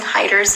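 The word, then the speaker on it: Haider: Somebody says they were pronouncing Hyder's name wrong. Yeah, it's Hyder. Hyder. I don't know how you would... Hater? It's Hyder.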